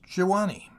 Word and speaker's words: Gewani: the village of gewani which i may as well say at once is pronounced jiwani not that we were